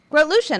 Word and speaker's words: Grotelueschen: Andy, how do you pronounce How do you Andy's- say Andy's last name? Revolution. Groot-Lucien, of course.